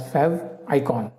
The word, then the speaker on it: favicon: More Concept called as favicon or you can pronounce it as Feb icon so what is this